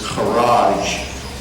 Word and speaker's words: kharaj: The verb is kharaj. It rhymes with garage.